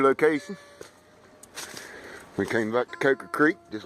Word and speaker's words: Coker Creek: If you want to say it properly, or what some people call proper. Coker Creek. For me, it's Coker Creek. I was taught by my granddaddy to say it that way.